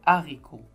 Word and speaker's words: haricot: vous allez remarquer que sur le mot herbe j'ai mis la liaison j'ai dit des herbes mais dans le mot haricots j'ai mis des haricots en fait c'est une leçon qu'on va voir au niveau CE1 qui est les deux types de H ça c'est un H mué et ça c'est un h aspiré mais ce qui est à retenir pour le moment c'est que le H ne se prononce pas c'est suffisant pour le